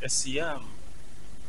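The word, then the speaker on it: الصيام: As-Siyam, en arabe, tel que vous l'avez prononcé, c'est ça.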